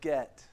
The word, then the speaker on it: Git: I say it like this word get is pronounced the same way as the other word get okay so you might say Get Right how many of you say get yeah y'all are weird